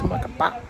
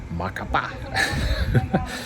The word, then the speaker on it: Macapá: I kept saying Macapá, but I should have known because of the accent on the last A that it's Macapá. So from now on, I'm trying to say it correct, Macapá.